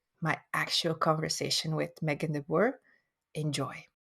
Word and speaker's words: deBoer: the english pronunciation uh so it's de boer um and it is dutch so i'm not sure how you pronounce it there but yes very very close to that the bor the boar yeah okay so welcome